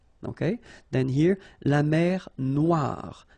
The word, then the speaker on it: noire: Then here, la mer Noire. Same thing here that we had previously. Final E not pronounced, okay? And then O-I, remember, wa, noir, noir. La mer Noire, okay?